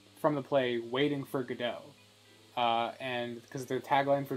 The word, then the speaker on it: Godot: go down it because it's not pronounced code out it's pronounced Godot there's a whole point of calling it Godot is that it's a play off of the play play off the play so the name is